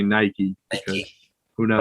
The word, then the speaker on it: Nike: So but I'm pretty sure that it is actually pronounced Nike in Greek mythology. So everyone else is actually technically right, but in English we say Nike.